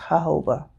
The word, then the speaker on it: jojoba: Moroccan Argan Oil and jojoba oil jojoba j-o no j-a-j-o-b-a is pronounced Jehovah you know the eight the J's have a h sound um but those are